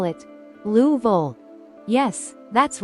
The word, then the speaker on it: Louisville: that locals call it louville yes that's right louv the name kind of rolls together almost like one sound it's a bit of